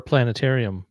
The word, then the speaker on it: planetarium: I'm gonna have to look for a planetarium app though. That sounds really fun because I remember that feeling. And for me and my homies, we pronounce it planetarium. You don't pronounce the T there, but that I will want to try that out.